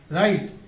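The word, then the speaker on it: wright: এরপর আমরা দেখব রাইট, ডাব্লিউ আর আই জি এইচ টি রাইট, এখানে কি এই জি সাইলেন্ট, রাইট অর্থ লেখক বা শিল্পী, আমরা বলতে পারি কম্পোজার।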